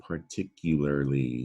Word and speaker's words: particularly: That's an R-controlled vowel sound there that is easily confused with Pratt. That R can move around. You won't believe how often that happens. So take a look. Part versus Pratt. Part, and that would be tick. Is that tickle? Lar, there's another R-controlled vowel sound at the end of this word, larly. This is the word particularly.